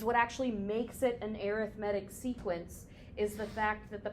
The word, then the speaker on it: arithmetic: what's known as an arithmetic sequence arithmetic spelled the exact same way as arithmetic but pronounced differently if you call it